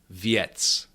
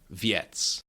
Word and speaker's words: věc: But since p is not affected uh this shatchkim is is pronounced yest. The same principle goes for viet viet that means a thing.